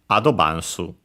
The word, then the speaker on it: アドバンス: The accent in Japanese is actually on the first syllable, so be careful on the A. So high and everything else low. Adobansu.